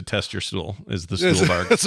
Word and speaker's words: Stuhlbarg: I just want to stop you because I'm looking at his Wikipedia page and it says his last name is pronounced Stuhlbarg.